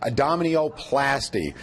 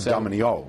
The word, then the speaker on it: abdominoplasty: All right, let's talk a little bit about tummy tuck, abdominoplasty. Tummy tuck a little bit more catchy. Yeah, abdominoplasty. Oh, I said it wrong. Yeah. Abdominoplasty, not abdominio. Yeah.